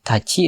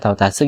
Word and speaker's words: 達: untuk waktu lalu ada taci dan Tats ee taatsu gitu ya cara bacanya. Em tats itu cara baca Tiongkok dan tachi itu cara baca Jepangnya.